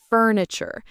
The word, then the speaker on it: furniture: The tur part can be a bit tricky. It's not furniture exactly. It's more fure. That ch sound is common for chir at the end of words.